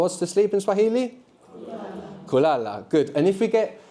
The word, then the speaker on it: kulala: Kulala, good. And if we get, and we have the accent on the penultimate syllable, the second last syllable, kulala.